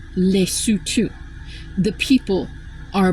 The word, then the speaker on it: Lesotho: and I am going to I lived in Lutu. Our our our convicted felon president has absolutely no idea how to pronounce that. It is spelled L E S O T H O. It is pronounced leutu.